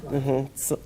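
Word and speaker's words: silane: info on selain right that's silan silan you know it's been being pronounced as San thank you for that correction silan which the company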